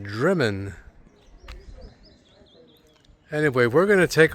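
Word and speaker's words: Drymen: It's spelled Dryman, but it's pronounced Driman.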